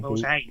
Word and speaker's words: bougie: Bougie. Bougie. Not Bougie. not bougie. Bougie. Please say it correctly. So, I think that's Bougie is the proper word. It's the French way of saying it, if I'm Well, not mistaken. it's not French. Bougie is French.